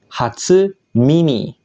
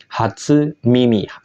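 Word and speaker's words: 初耳: berdiri sendiri seperti ini dia akan dibaca Mimi yang artinya telinga contoh yang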